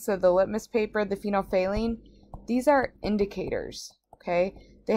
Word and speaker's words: phenolphthalein: say lean okay that's kind of how you pronounce it phenolphthalein and when phenolphthalein it's a liquid when you add it to